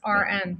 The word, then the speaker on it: Aren: was just gonna say it's pronounced like registered rn rn that's RN oh